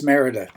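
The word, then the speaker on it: Mérida: I repeat the name because I used to pronounce it as merita it's not merid it's Merida why Merida in the Yucatan because it's considered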